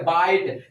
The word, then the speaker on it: bite: अब यहाँ देखो BITE ई लगने से क्या हो गया बाइट, लेकिन ई का कोई मीनिंग नहीं आ रहा, उच्चारण से उच्चारण तो मीनिंग क्या हो रही है अलग हो रही है।